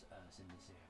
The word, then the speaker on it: Cynidicean: It's CYNIDICEAN. So he's cinder like as in actual burnt.